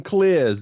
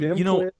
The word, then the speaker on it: Klisz: West of Detroit is Tim Klisz. Did I pronounce that right? That is correct. Tim, Klisz.